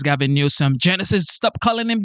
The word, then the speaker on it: Newsom: that Gavin nusum and most people say his name is Gavin Nome Genesis stop calling him Gavin newcom his name is Gavin